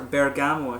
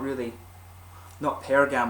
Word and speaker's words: bergamot: Or bergamot, I should say. Not pergamot. I'm pronouncing it wrong.